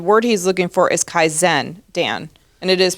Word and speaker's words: Kaizen: he loves the Japanese pro uh practice of kaizan continuous Improvement but the word he's looking for is Kaizen Dan and it is pronounced like that kaen yes it's so funny I've only called it kaisan for I don't know 40 50 years um